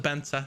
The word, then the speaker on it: Banza: and someone actually starts how you pronounce my name it's pronounced banza just put it out